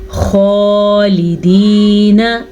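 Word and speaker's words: خالدين: خالدین فیہا، خالدین، خا کو پر پڑھنا ہے. خا بھی حروف مستعلیہ میں شامل ہے اور ہمیشہ ہی پر پڑھا جاتا ہے.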